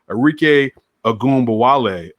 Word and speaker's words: Arike Ogunbowale: You had Arike, let me make sure I pronounce her name correctly. Arike Ogunbowale won the MVP.